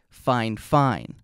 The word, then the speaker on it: FiFine: And what they told me is that the pronunciation would actually be Fine Fine.